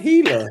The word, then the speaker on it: Gila: You said it right, Gila.